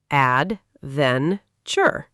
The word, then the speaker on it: adventure: Another word is adventure. Add, then, chur.